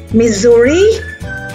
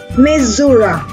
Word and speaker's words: Missouri: The name Missouri has several pronunciations. The two most common are Missouri and Missouri.